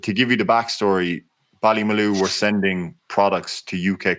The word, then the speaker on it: Ballymaloe: Tell me, Ballymaloe, is that how we pronounce that? Ballymaloe, correct.